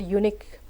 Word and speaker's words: unique: For example, in the word unique, the stress is on second part. U is not stressed, it is unstressed. Unique is stressed, the second part is stressed.